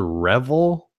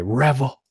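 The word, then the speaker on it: REVVL: released phone called the is it the revel so it was come out to be the rebel right now I mean there's no what their way to pronounce that spelled re vvl all caps by the way revel and it's 125 bucks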